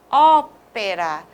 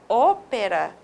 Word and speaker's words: ópera: E mais uma, ópera. Se não tivesse o acento agudo, seria ópera, né? Então, essa é a diferença. Com o acento agudo, nós temos ópera.